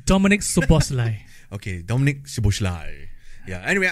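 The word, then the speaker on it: Szoboszlai: were many players um Liverpool one I cannot pronounce that the Shai whatever it's Dominic subai okay Dominic shos yeah anyway I believe he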